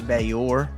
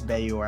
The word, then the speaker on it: Gbayor: Yeah, I want to say it's I want to say it's Bayor. I think the G is silent, but although I am not 100% confident in that.